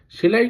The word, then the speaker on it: sew: সেলাই করার ইংলিশ কি? সেলাই করার ইংলিশ হলো সো। যদিও স্পেলিংটা SEW, এর প্রোনাউন্সিয়েশন কিন্তু সো।